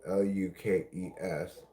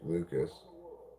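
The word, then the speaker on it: Lukes: Name spelled L U K E S but pronounced Lucas.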